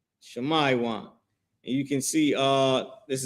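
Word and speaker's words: שמעון: The tribe of Simeon and the Hebrew, their name is Shamaywan. Shamaywan. And you can see uh this is the spelling of their name right here. Shamaywan, right?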